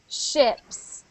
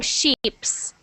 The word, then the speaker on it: ships: Because when you were reading, you were saying sheeps. Like sheeps. And a sheep is an animal.